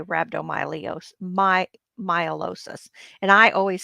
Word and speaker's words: rhabdomyolysis: Myelosis. And I always say ly, I say lee. So I say rhabdomyolysis, but that's not correct. It's myelosis.